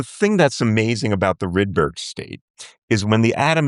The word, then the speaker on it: Rydberg: So, the the Rydberg or Rideberg, I've heard it pronounced two different ways, I don't know. Rydberg, okay.